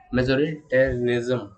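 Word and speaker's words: majoritarianism: ठीक है, मेजोरिटेरिज्म, काफ़ी अच्छा प्रोनाउंसिएशन है इसका।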